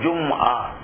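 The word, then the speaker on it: جمعة: বলেন নাই জুমতি বলেছেন শব্দটার আরবি উচ্চারণ হলো জুম উর্দু ফার্সি বাংলা ভাষায় বলা হয় জুম্মা এই জুম্মার বার বা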